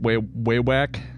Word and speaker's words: Wewak: Pronounced Wewak.